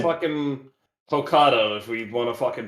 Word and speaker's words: Hokkaido: I am not actually how you pronounce that region. Talking Hokkaido, about I believe. Hokkaido. Hokkaido? It's Hokkaido.